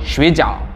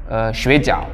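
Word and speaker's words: 水饺: different meanings, or just if you miss the right pronunciation, you are saying another things. For example, sleeping, 睡觉, that means sleeping. And they have dumpling called 水饺.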